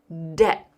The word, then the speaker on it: debt: The pronunciation is debt.